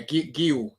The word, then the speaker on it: Guiu: Is that how you pronounce Guiu or Gui? Yeah, Guiu.